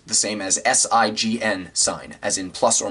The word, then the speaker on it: sine: that's where this is a different sign pronounced the same as the word sign but it's a different